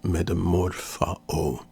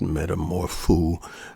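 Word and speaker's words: μεταμορφόω: Greek is the word metamorphao. And I'm doing the classic pronunciation. There are some who pronounce it metamorphoo, but when you study the Greek in this and the Greek context, you'll find out metamorphao.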